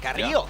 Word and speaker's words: Carrillo: Carrillo. Yeah. Hey, Carrillo. A roll that R pretty well.